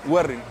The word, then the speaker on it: Güerrín: Werin porque tiene el doble acento en la U. Es como con acento en la U. Exacto. Werin.